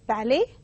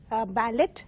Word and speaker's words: ballet: And the third word is ballet, mispronounced by many as ballet. They have that, they include the T, but T is silent.